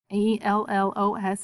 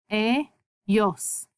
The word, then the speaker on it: ellos: And then E-L-L-O-S is pronounced ellos, ellos. That double L says ya.